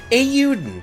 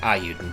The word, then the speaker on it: Eiyuden: of y'all, because all I ever do is mispronounce anything. So it's Eiyuden, and I was calling it Eiyuden.